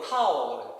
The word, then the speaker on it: 道: 억지로 이름 붙여서 도다 발음으로 도다 영어로는 타오 T예요. 이렇게 한문으로는 이렇게 도라서 우리 글로는 도라고 발음되죠. 영어로는 타오로 발음되죠.